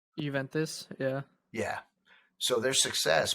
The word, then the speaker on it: Juventus: Juventus. Juventus, yeah.